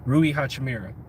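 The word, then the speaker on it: Rui Hachimura: they could get Roo Rui hotcha Mira I said it right this time because everybody kept getting on me the same route as Rui Rui Hachi Mira so what if and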